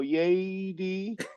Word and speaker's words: Yeydy: I always say um think of a roller coaster and you go yay d that's that's my best way to explain how you say my name I love it you